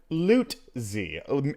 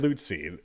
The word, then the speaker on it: Lutze: His name is Aaron Lutze. Aaron Lutze.